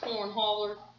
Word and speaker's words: Cornhauler: I believe it's pronounced Cornhauler.